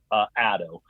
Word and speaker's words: ADDO: an acronym you know I pronounce it a doe now it's a derivative from Latin word or phrase that means to give to spire to inspire to give or to bring I use the term